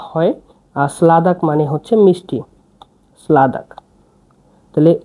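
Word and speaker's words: sladak: sweet মিষ্টিকে বলা হয় স্লাদাক সলাদাক মানে মিষ্টি স্লাদাক দেখুন এটা হচ্ছে এস এটা এল এ ডি এ কে স্লাদাক সলাদাক মানে মাংস এখানে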